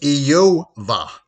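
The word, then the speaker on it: איוב: it as job well if you go back to how the name of job was pronounced in hebrew it was yo-vah and actually means hatred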